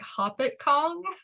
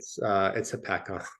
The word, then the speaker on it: Hopatcong: the audio book, and he pronounced it, I want to say it was like Hoppet Kong, which Yes. shook me to my core, because I was like, is that the correct way to say that word? And Yeah, but we're not gonna go with that. It's Hopatcong. Some things you need to